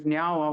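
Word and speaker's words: Niá:wen: I taught her how to say our Ganyageha word in Mohawk, which is nyawa, which means thank you.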